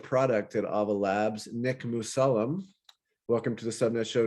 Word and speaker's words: Mussallem: big fan of the show thank you i pronounced the last name sufficient yeah masala that's right awesome yes so um nick was